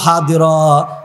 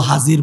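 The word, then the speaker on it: حاضرًا: রেখেছে ওয়াজাদু মা আমিলু হাদিরা নিজের জীবনের সমস্ত আমলগুলো হাজির পাবে ওয়াজাদু মা আমিলু হা দিরা আরবিতে দতের উচ্চারণ করে দত করে আর আমরা বাংলা উর্দুতে বলি জাদের মতো করে হাজিরা হাজির পাবেন ও ভাই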